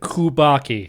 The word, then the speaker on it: Kubacki: so let's hear about this steve kubaki disappearance kubaki you got to pronounce that correctly nothing else i'm a little